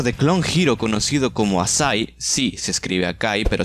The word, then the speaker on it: Acai: Pero tiempo después, un youtuber de Clone Hero conocido como Asai, sí, se escribe Akai, pero se pronuncia Asai, él mismo lo dice. Oh, but Asai.